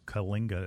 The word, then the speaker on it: Kyllinga: Again, it has a whole section of that you can pull up about Kalinga. It's spelled Kyllinga.